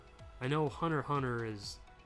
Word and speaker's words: Hunter x Hunter: is like I know Hunter Hunter is it's not pronounced Hunter x Hunter it's what I thought